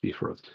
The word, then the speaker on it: Bifrost: so maybe they're wrong so yes it's pronounced like the delightful dinner that can be made in the crock pot so ah there you go beef i don't know roast buy frost beef roast i guess it depends